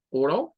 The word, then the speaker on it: oral: La primera suena a or. Es más parecido a una O, pero recortada. Es la O con un glottal stop que le hacemos como O.